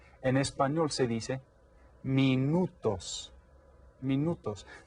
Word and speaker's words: minutos: En español se dice minutos. Minutos. This is spelled almost exactly the same as in English, but it's pronounced a little bit differently.